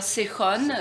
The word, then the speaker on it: Сехон: Я бы хотела, чтобы ее произносили «Сехон». Как написано по-русски.